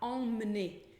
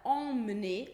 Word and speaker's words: emmener: Então, a palavra emmener ou emmener tem esse M, tem o som de ON, EM, com som de ON, porque veio antes de um outro M, né?